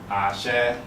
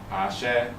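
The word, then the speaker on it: àṣẹ: And that's a very US pronunciation of it because the Yoruba pronunciation is Ashe, Ashe.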